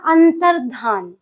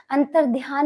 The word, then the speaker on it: अंतर्धान: आगे आता अंतर्धान अब हम लोग क्या बोलते से अंतर ध्यान हो गए भगवान जी आए और अंतर ध्यान हो गए अंतर ध्यान नहीं होता है अंतर धान होता है यहां पर आपको ये चीज याद रखनी अंतर धान ना कि अंतरध्यान आगे आनुषंगिक ये वर्ड